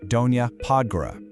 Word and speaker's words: Donja Podgora: And when you're navigating those lower slopes, it's Donja Podgora, pronounced Donja Podgora.